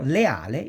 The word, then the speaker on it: leale: Leale is divided in syllable, and this syllabization of that is le, a, le.